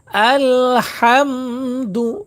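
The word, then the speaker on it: الحمد: আচ্ছা দেখেন আলহামদুলিল্লাহি রব্বিল আলামিন লক্ষ্য করুন আলহামদুলিল্লাহি রব্বিল আলামিন এইযে এখানে কি লেখছে দেখেন আলহামদু লিল্লাহি এইযে লিল্লাহ টানো হবে আলহামদু এর উচ্চারণ গলার মাঝখান থেকে হবে হা।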